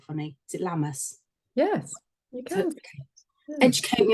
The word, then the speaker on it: Lammas: We've got the Lionsgate portal on the 8th, and yesterday was, I can never say it because it's spelt funny. Is it Lammas?